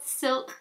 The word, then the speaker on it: Silque: Elcie Micro Silk Liquid Foundation, and Silque is spelled S-I-L-Q-U-E.